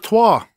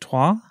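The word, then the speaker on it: trois: the Hedgehog 3 Sonic twah Sonic twah yeah that's three in French oh how do you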